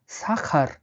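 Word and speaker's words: сахар: রিস মানে হলো চাল বা ভাত চিনি পরবর্তী শব্দটি হলো চিনি চিনিকে রাসায়নে বলা হয় সাখার সাক্ষার সাখার মানে হলো চিনি দেখুন এই সি এস উচ্চারণ হয় তাহলে এস এ এটা কি এই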